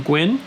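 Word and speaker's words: Nguyen: Jeff Lemire and Dustin Gwynn. I think I was saying Nigel before, but it's actually, I heard it was Gwynn.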